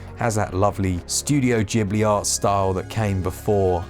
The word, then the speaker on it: Ghibli: And yes, for that person saying Ghibli, it's Ghibli. I know, I always pronounced it Ghibli until I found out that the Japanese pronunciation is a J. I was like, oh man, okay. It's probably not, is it? It's probably somewhere in the middle, but either way, Baldo,